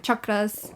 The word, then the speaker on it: chakras: Chakras, that's how you say it.